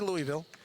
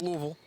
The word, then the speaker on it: Louisville: Louisville Kentucky Louisville Kentucky we did lose a syllable over the years it used to be Louisville now it's Louisville and legendary Freedom Hall